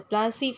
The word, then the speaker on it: Plassey: Before starting with this, let us understand the Plassey, from where this word has come. Plassey is an anglicized pronunciation of Palashi, and the place derived